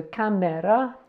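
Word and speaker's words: 카메라: We've got a K and an A, then a M, where's M there, and an E, and finally a R, the same as this R here. So camera. Camera.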